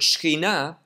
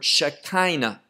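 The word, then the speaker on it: Shekhinah: kind of i've been using the word shkina in in english they take that word and kind of put the the emphasis on a different syllable and they get the word shaktaina and shakina many of you know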